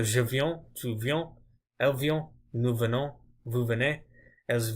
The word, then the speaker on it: vient: You never pronounce it. So you wouldn't say vient. You always say vient.